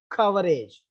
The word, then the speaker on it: coverage: I added age to cover, then that becomes coverage. So the bare word take the stress on k, with the suffix ag, still the stress is on k.